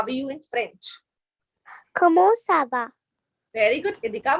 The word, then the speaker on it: comment: In English we say it comment, right? In French we say comment, comment, comment, and it means how.